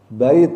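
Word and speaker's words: بيت: Tak, tetap taknya dibaca bait. Ada atnya ya. Tapi kalau ini jannah. Tapi kalau ini bait. Taknya tetap dibaca. Kalau disambung juga sama. Kalau disambung, kalau ini bait, taknya tetap ada.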